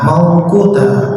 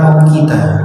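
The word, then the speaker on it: مَوْقُوتًا: Maka sholat itu saking tertibnya, inna sholata kanat 'alal mu'minina kitaban mauquta, bukan mau kita, tapi mauquta. Kalau mau kita salah bacanya ya mau kita, ya.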